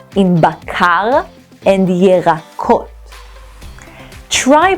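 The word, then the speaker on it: בקר: The tricky part here is pronouncing the r in bakar and yerakot. Try pronouncing the r and notice your tongue is rolling close to the back of your throat. R, bakar, yerakot.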